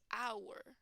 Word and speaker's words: hour: in the spelling but that age is silent it means that you do not pronounce that H okay so an example of this is our our right the H here does not have a sound so the sound that comes first is a vowel sound hour a hour